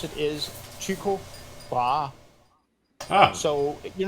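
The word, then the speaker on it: Tycho Brahe: and purposes they pronounce the way to properly pronounce it is chiku bra so you're not far off think Rose wait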